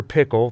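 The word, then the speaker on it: Pyckle: Pickle, that's pickle with a Y like Jekyll, but pronounced pickle like dill, as this helpful title card points out.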